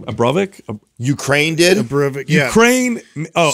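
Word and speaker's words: Abramović: Abramovic.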